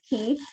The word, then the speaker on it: Caye: We are on an island called Ambergris Caye, which you were really close, Anne, in that pronunciation. So Caye is like the car key, but it's just spelled differently. So C-A-Y-E is Caye.